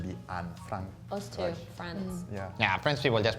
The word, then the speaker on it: France: Because in French it's en, but in Spanish it's an. And then it's the same in German, it's going to be an, Frank. Us too, France.